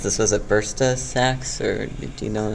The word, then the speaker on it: bursa: had ruptured one of the, I'm going to mispronounce this, was it bursa sacs, or do you know that? Yeah, bursa.